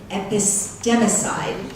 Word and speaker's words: epistemicide: The epistemicide, did I pronounce that right? Yeah. Epistemicide, side meaning the killing of, and epistemology meaning words.